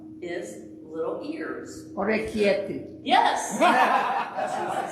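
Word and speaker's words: Orecchiette: one that starts with O that I cannot pronounce is little ears. Orecchietti.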